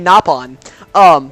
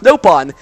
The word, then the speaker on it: Nopon: It's supposed to be Nopon, but in this game it's pronounced Nopon.